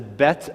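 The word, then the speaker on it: ב: Well, you notice at the bottom, the bet has a little bit of an extra length of the line at the base of that. You see that? So be careful when you're reading Hebrew. Just a little bit makes a big difference. And that's a bet, or without the dot, it's a vet.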